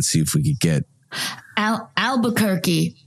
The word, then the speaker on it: Albuquerque: if we could get Albuquerque rhymes with turkey okay the country and